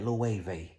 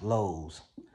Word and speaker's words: Loewe: And from Celine, ended up at Loewe, which I used to pronounce Lowe's, Loewe's.